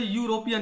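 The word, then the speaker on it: European: Wavell है, एन लगाएंगे, लेकिन यहां पर प्रोनाउंसिएशन इसका देखिए यूरोपियन, य फिर से आ रहा है, इसलिए यहां पर अ लगाएंगे।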